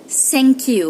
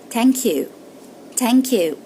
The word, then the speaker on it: thank: Unfortunately, they pronounce it thank you, which is incorrect, completely incorrect. So how can we overcome this wrong pronunciation? We say it as thank you, which is a very soft T, very light, like tha as ta, which is tha is an Arabic letter.